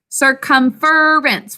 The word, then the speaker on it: circumference: Circumference. What do you hear in the next syllable?